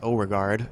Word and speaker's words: Overgaard: He is actually from Denmark, and apparently it's pronounced Overgaard in Danish, so I apologize if I've been Americanizing that on you, Stefan.